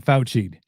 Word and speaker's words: Fauci'd: Getting Fauci'd. A new F word when it comes to dating, and it rhymes with ouchie.